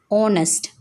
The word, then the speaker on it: honest: honest otal historical the letter H is a silent in words like honest and historical therefore we consider